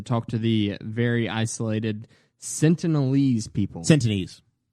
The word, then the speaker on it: Sentinelese: isolated Sentinelese people's entities it's not a sin tonie's it's what I've heard there's an L I don't care this is how I've heard it pronounced all week the sense of these people sentient I don't like it no it's not asking anybody else here it's the Sentinelese people you're so dumb we're